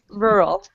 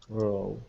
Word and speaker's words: rural: R so it's like we do pronounce the second R but just barely okay but if you want to pronounce it well it's rural rural rural okay and does